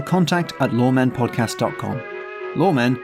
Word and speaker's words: Loremen: at lawmen podcast comm lawmen is spelled lor e men it's wordplay if you enjoyed series one